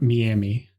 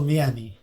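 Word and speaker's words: Meeami: shitty about it because it is very easily pronounceable they're from miami yeah m-e-e-a-m-i beautiful miami is it a palm trees and lots of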